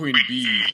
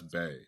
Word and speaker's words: Bey: My fiance is just like, Queen Bee, and then spelled it Bey. I'm like, honey, that's Bay. We Exactly. say Bay. We know the difference between bee and bay.